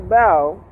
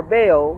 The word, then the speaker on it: Baal: He didn't exactly turn away from God, but he started following after Baal, or Baal, however you want to pronounce it, who was the god of his wife from Phoenicia named Jezebel.